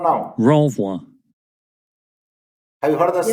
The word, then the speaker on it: renvoi: Renvoi. Have you heard the Yes, sound? but it is a bit low. Renvoi. Did you get the sound? Renvoi.